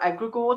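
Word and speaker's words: egregore: It it will be very rare that you will because we've all it's egregor um or egregor depending where you're from is how you pronounce it.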